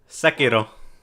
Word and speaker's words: Sekiro: Sekiro. I'm sorry. Let me be country, man. I don't care, man. Let me be country. All right. How you say it again? Sekiro.